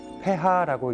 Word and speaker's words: pH: PH, 폐하라고 읽는 이 수치는 수소이온 농도를 나타냅니다.